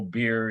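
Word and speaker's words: bier: word for beer but also the the funeral beer you know that Hindus burn their dead on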